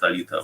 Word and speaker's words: Alita: Initially, right now it's like public name, the Elite, like you can pronounce it Alita, whatever it means, that Alita or Elite.